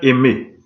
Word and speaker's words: Aimée: Sainte Aimée, A-I, M accent aigu, E muet.